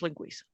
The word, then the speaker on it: linguiça: So wow, I just went off for about a minute on linguiça. No, I liked it. It's informative. I'm gonna pick up some linguiça. All right, and it's spelled linguica, but it is pronounced linguiça.